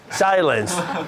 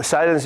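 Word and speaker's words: Cylance: So, How do you spell that? CY. CY. L-A-N-G-A. LAN. CY? Yeah. Silence, yeah. Silence. Yeah. LA? Yeah, A-N-C-E. Silence.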